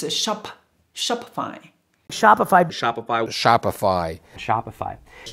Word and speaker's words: Shopify: instagram instagram instagram number seven shopify shopify don't pronounce shopify it's not a shoppie it's a shop shopify shopify shopify shopify shopify which is shopify number